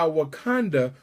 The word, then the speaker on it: Wakanda: time for a real Wakanda and if you're wondering why we're Conda rhymes with Uganda if you're wondering why Wakanda rhymes with Uganda is because the original